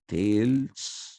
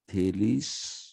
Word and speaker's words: Thales: a l e s in greek the es is always pronounced as ease so it is socrates similarly it is the lease dhades not tails thales anaxiemander and anaximenes these